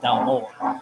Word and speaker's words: Dalmore: Well, I mean, like, we'll say Dalmore. But if you go to Scotland, they'll say Dalmore. They'll put Okay. more of an emphasis on the second half.